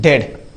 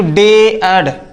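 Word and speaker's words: dead: ए आए कोई शब्द डी ई ए डी क्या लिखा गया है डेड डेड मतलब मृत्यु तो यहां पर हम डेड बोल रहे हैं तो देखो डी के बाद में ई फिर ए इस ए को हम नहीं बोल रहे हैं इसको हम डेड बोल रहे हैं ए नहीं बोल रहे हैं ना कि डे ऐड डे ऐड नहीं इसको डेड कहेंगे इसको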